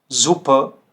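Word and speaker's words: super: हल्का सा अ आपको साउंड करना है, आपको एयर बोलने की जरूरत नहीं होती है, ठीक है। कैसे, देखिए, बेसर, बेसर, मैं आर साउंड नहीं कर रहा हूं एंड में, ठीक है, ध्यान से सुनिए। बेसर, जुपर, जुपर, फाटर, फाटर। तो इसमें जो है आपको आर जो साउंड है वो साइलेंट रखना होता है, ठीक है।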